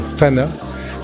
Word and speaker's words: PHANA: Alors l'association s'appelle l'association FANA. FANA qui s'écrit PH comme photo, AN comme animalière, et le dernier A qui veut dire Ophargis.